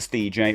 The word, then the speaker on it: Stej: my name is Steve Steven Mr. Stej rhymes with DJ and I am a streamer.